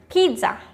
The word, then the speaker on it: pizza: which is the word pizza. Pizza. I have listened so many people pronouncing the word pizza as pizza. Pizza. It's pizza, not pizza. There is a light, soft T.